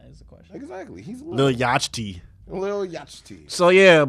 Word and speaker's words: Lil Yachty: I say Lil Yachty. No, people say Lil Yachi and I'm like, "All right, do you not know how to pronounce the word yacht?"